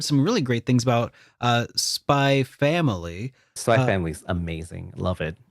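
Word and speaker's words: Spy x Family: Do you pronounce the X when you say that? No, it's just Spy Family.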